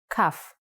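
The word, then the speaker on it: כ: with sharp corners CF CF actually is only pronounced like C when it has a dot inside just like bet only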